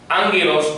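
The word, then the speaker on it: ἄγγελος: por favor hermanos uelos nota que angelos lleva la doble gama que se pronuncia como ng en español os repíteme por favor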